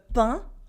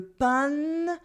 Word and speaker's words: pain: Once you hear them clearly, you will realize that there is no extra N sound in le pain, the bread, which is not le pain or pen or whatever. It is le pain.